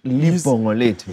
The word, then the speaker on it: Libho Geza: How do you say it? Like, Libho Geza. Literally.